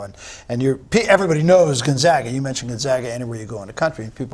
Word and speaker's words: Gonzaga: that people are starting to understand how to pronounce Gonzaga and we had three coaches in here mispronounce